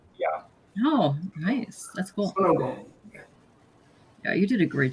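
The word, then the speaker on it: 손오공: Sonogong. That's how Korean pronounce it. Sonogong. That's how the Koreans pronounce him? Yeah. Oh, nice. That's cool. Sonogong.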